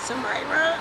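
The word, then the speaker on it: Tamiria: like to give your name and how to spell it sure my name is tamyra it's t-a-m-i-r-i-a date great thank you you're very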